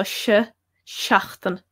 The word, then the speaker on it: seachtain: So it's E there, so seachtain, seachtain. Doesn't matter how you pronounce the rest of it again, depending on dialect. If you pronounce it a bit differently from how I pronounce it, still it's going to be, the first letter is going to sound the same, or should do anyway, seachtain.